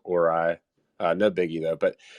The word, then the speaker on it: Orai: name's Cosmos hos uh the pronunciation is orai which it stands for oracles and AI so it's orai uh no biggie though